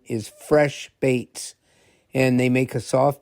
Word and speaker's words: FreshBaitz: But the the if you look this company up, they're Fresh Baits and Baits is spelled B A I T Z and they're soft plastic baits that they make.